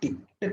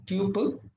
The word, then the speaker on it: tuple: saying print type of t let me run it it says Tuple so people pronounce it as either Tuple or tle both are fine I prefer Tuple only okay uh so a